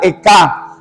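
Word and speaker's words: אֵיכָה: Esa palabra dice que esa palabra como en hebreo se pronuncia Eka, la cual expresa desmayo.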